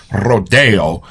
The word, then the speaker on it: Rodeo: Well, having been brought up in Rodeo, California, and been made fun of my whole life for pronouncing it correctly, Rodeo, I think I'm uniquely qualified to let this one out of its shoot.